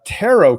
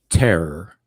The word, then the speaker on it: tarot: how would you spell Terror artero tarot is it Terror like Terror car that's a deck of them Terror cards or tarot cards doesn't rip uh no tarot t-a-r OT the t is silent it's looking to rot